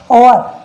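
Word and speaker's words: hour: अब इसे हावर आवर मत पढ़ना भाई, ये होता है ओवर यानी घंटा।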